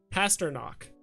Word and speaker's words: Pastrnak: i don't watch hockey pronounce pastrnak pastor knock gotcha pastor knock like pasta super off topic no